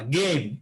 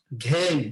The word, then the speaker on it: game: গেম, নট ঘেম। কি বলছো? ঘেম। ইটস নট ঘেম, ইটস গেম। এটা এই উচ্চারণ হবে, এটা এই উচ্চারণ হবে, কিন্তু গ কখনো ঘ হবে না।